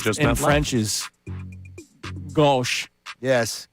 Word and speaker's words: gauche: I thought it just in meant French is gauche. Yes, gauche. Or whatever. Strong Yes.